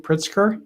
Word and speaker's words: Pritzker: initiatives at both northwestern and has the proper pronunciation pritzker pritzker yes christopher school of law and mccormick